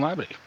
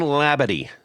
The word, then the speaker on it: Labadie: guest who are you I am uh Jonathan labid Jonathan labid and uh that is the correct pronunciation I checked with the uh the recipient